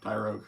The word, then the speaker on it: Tyrogue: Joe, three evolutions of Is it Tyrogue? Is that Yep. Tyrogue.